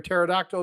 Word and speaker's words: pterodactyl: The dad joke is, why can't you hear a pterodactyl go to the bathroom? Because the P is silent.